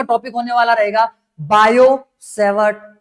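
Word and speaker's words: Biot–Savart: Topic होने वाला रहेगा बायोसेवर्ट लॉ। ठीक है? बायोसेवर्ट लॉ। बायोसेवर्ट लॉ इसका स्पेलिंग में थोड़ा सा मतलब कि कंफ्यूजन हो सकता है। स्पेलिंग में टी साइलेंट होता है।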